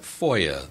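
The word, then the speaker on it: FOIA: we were talking about Foya that's the pronunciation of the acronym fi a stands for the Freedom of Information Act Now the Cong both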